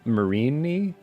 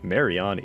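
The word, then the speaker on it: Mareanie: Isn't it pronounced Marini? Is it? I think it is. That's the little blue guy from Sun and Moon. Yeah. Marini? Yeah, I want to say it's Marini. Mariani is crazy. I guess that makes sense because of like meanie or whatever, but I always saw the E and the A and I was like, oh, you gotta pronounce those.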